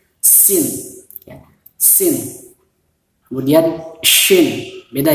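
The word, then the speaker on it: سين: Sama seperti ada hembusan angin sedikit, seperti apa namanya, suara ular gitu, sin, ya.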